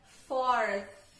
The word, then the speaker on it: fourth: E aí, com a língua na ponta do dente, você solta um pouquinho de dó. Então, fica fourth.